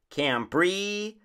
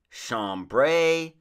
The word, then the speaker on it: chambray: find from the catalogs cambrie tambra chambray you can call it what you may it should be pronounced with a k sound because of the etymology the word canberra comes